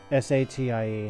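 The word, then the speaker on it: Satie: S-A-T-I-E, however you'd pronounce that. Sati. Eric Sati. Eric Sati. Yeah. All these years most I've been pronouncing it Sadie.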